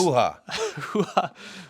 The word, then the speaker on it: hoo-ha: What's this, a hoo-ha? Hoo-ha. It rhymes with poobah.